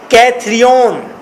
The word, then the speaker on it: Cithaeron: के, और इन पहाड़ों का नाम है माउंट कैथरियन, MOUNT, माउंट कैथरियन। कैथरियन का स्पेलिंग लिखें CITHAERON, कैथरियन।